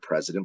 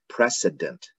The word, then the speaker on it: precedent: It kind of sounds like the word president, but it's not. It's precedent, not president.